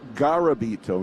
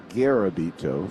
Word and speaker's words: Garabito: tell us though that his name is pronounced garabito not gabito so uh we will go